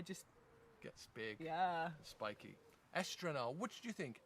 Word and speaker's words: estrenar: E-S-T-R-E-N-A-R. Estrenar. You pronounce it as you say it.